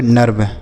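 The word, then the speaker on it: nerve: एन ई आर वी तो इसे हम पाएंगे नर्व।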